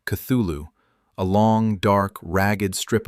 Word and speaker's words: Cthulhu: To the east of the heart lies its opposite, Cthulu Reio, pronounced Cthulhu, a long, dark, ragged strip of terrain that hugs Pluto's equator for almost 3,000 km.